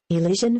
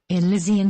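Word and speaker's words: Elysian: able to pronounce it it's not um elision Fields Elian Fields thank you that is great I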